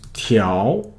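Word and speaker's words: 调: is uh and then this character has a another pronunciation right uh let's go back it's tiao you can say TL now when you say tiao that means to adjust to regulate uh or to Tim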